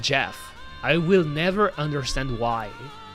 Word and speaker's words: Geoff: I wanted to go into the Jeff Twitter because I think Jeff, by the way, his name is written Joff, but it's called Jeff.